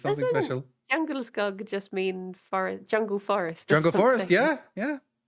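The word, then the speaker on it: Djungelskog: That's how it's pronounced, basically. Yeah, Jungle skug.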